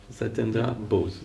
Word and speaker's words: Satyendra Bose: This idea that I want to expound to you now, because it was invented by an Indian scientist, Satyendra Bose. Is it okay, the pronunciation? Satyendra Bose.